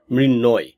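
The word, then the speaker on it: মৃন্ময়: টেনে দিলে উত্তরটি পাবেন উত্তরটি হচ্ছে মৃণয় কারণ ম ফলা কি করে এটাকে ধৃত উচ্চারণ করে যেমন গ্রীষ্ম এটা নট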